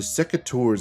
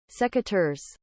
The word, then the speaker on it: Secateurs: The Secateur's attachment, I think I said that right. I literally practiced on the pronunciation of it by using Google the whole time I was getting ready for this. Secateurs.